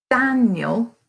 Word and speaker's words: Daniel: different to the ear Daniel stresses the first syllable of that word Daniel when we annotate